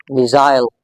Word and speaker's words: missile: In British English, this word is usually and generally pronounced as missile, missile. But in American English, it's pronounced differently. In American English, you have to pronounce this word as missile, missile, missile.